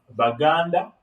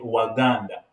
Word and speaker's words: Baganda: same it's like when we have uh baganda okay and then others will say waganda okay this is a simple who is saying most of most of now most of people from the west they will not they don't have b they will simply say waganda but when you come